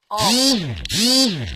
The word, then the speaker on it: Om: So Om. So Om is something that is broken down into 3 syllables. Even though it's spelt O-M or sometimes A-U-M, it's actually 3 syllables.